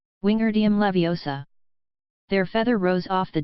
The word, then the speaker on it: Wingardium Leviosa: her my Ani snap its Wingardium Levi OS a make the GAR nice and long you do it then